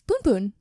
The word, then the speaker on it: Punpun: That's Punpun. Yeah, but that also means something else. But it's P-U-N, not P-O-O-N.